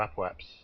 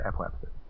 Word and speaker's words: apoapsis: for the apoapsis, or apoaps. Apoapsis. See, Scott Manley pronounces it as apoaps, and he knows what he's talking about and stuff. So he says apoaps, but I say apoapsis.